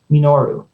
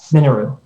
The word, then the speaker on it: Minoru: Minoru, says my mother, de-emphasizing the expected syllable as if the word were Japanese.